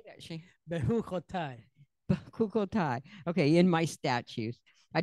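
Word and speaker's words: Bechukotai: BeChukkotal.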